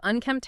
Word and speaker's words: unkempt: Think of unkempt hair, unkempt clothes, or just an overall unkempt look. And the key here for both pronunciation and spelling is that MPIC sound at the end.